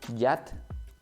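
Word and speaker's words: יד: Por ejemplo, yat, así se pronuncia, yat significa en hebreo mano, asa o mojón.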